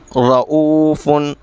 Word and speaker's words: رؤوف: آواز کو ملاتے جائیں۔ رؤوف، را موٹی ہوگی اور یہاں حمزہ و مدہ کی وجہ سے کھینچ رہا ہے۔ مستقر، تیرا موٹی بھی